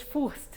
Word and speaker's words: Fürst: Bom, eu tenho meu Instagram, meu Facebook, Furst. Como é que se escreve Furst? Para aqueles que não falam alemão? Bom, eu falo em português Furst, né?